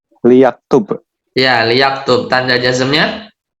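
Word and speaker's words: ليكتب: lamul amr ya, lamul amr bacanya li ya. Jadi li, Li yaktub.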